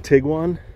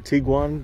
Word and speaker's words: Tiguan: Volkswagen, 2024 Volkswagen Tiguan, or Tiguan, depending on how you say it.